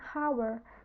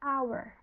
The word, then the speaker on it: hour: tadi kita bahas sebelumnya hour walaupun diawali dengan huruf H tapi kita bacanya bukan hower tapi kita bacanya our bunyi itu vokal maka dari